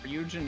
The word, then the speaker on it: Ryujinx: Ryujin next, Ken. Or Ryujinx. I always forget that the X isn't pronounced it.